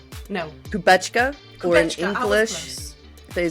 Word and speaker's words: Kubecka: And with me today is the amazing, I know I'll say it wrong, Kubecka? No. Kubecka, or in Kubecka, English, they say Kubecka.